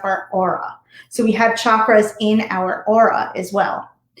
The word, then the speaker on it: chakra: It's actually pronounced chakra with a hard CH. So if you're saying it, chakra.